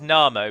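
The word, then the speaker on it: Námo: now as I say his name is na mo but he is often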